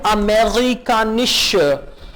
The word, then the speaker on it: amerikanisch: ये वर्ड है ein amerikanischer, amerikanischer, ein amerikanischer Wagen। bitte, bitte का मतलब है बराए मेहरबानी, रिपीट कीजिए। amerikanisch, amerikanisch, आर को आपने ग प्रोनाउंस करना है।